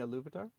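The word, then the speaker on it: Ilúvatar: You mean a Luvatar? I say Yuvatar. I don't pronounce the I.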